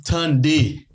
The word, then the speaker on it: tande: All right, so Creole word of the day, ladies and gentlemen, is Tunde. There's so much significance behind this word. Spell that out to him.